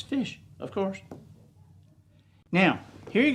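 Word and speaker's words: ghoti: the ti is shh so if we had just if we had to spell like we learned to read then GH oh o t i is how we would spell fish welcome to the English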